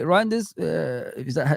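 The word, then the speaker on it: Reijnders: Maybe you could say Reinders, that's how you say his name, from AC Milan, maybe, but Xherki is a lazy player, guys.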